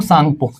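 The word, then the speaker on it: Tsangpo: यार लोंग सांगपो। टी इसमें साइलेंट रहेगा।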